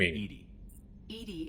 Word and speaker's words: EDI: what are your name edie is the phonetic pronunciation of edi that is an acronym for enhanced defense intelligence let's discuss something else